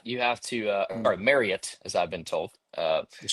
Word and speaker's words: Marriott: Apparently apparently when you stay at a Marriott you have to uh or Marriott as I've been told.